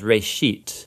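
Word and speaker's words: בראשית: of it's called Genesis Genesis comes from a Hebrew word it's pronounced Ray sheet and it just means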